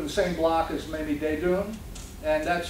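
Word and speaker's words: Desdunes: godmother lived in the same block as many de doom and that's spelled d-e-s-d-u-n -es although you'll find it spelled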